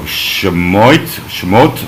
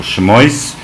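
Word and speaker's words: שמות: In the actual Torah, this is the book of Shemot or Shemois, which, depending on your more Sephardic or Ashkenazic pronunciation, which means the book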